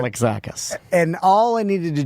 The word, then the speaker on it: Alexakis: It's Alexakis. Right? Alexakis.